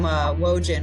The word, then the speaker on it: Wojin: I always say I'm Wojin, rhymes with Trojan.